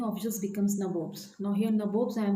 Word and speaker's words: nabobs: Now here nabobs I am saying that NABOBS. Now here nabobs generally was used by the English people as nawabs because they pronounced nawabs as nabobs.